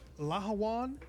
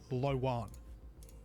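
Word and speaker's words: Lh'owon: So, uh, Lahawan with that H actually pronounced. I've heard others just say Lan.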